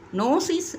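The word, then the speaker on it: gnosis: ஸ்பெல்லிங்கின் படி ஜி என்ஓ என்று இருந்தாலும் ஜியை சைலன்ட் ஆக்கி உச்சரிப்பில் நோசிஸ் என்றே அதை சொல்லுவார்கள்.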